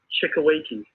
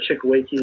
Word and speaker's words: Chukueke: name is and the last name is chikaweiki uh so uh last name is a chickaweiki it's uh it's actually nigerian and it stands for